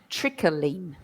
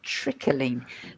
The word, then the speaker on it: trickling: And actually, we insert a sound, so we say rustling, trickling. So we put that. It's almost as if there's an e in there, but there isn't. But in the spelling, but in pronunciation, yes.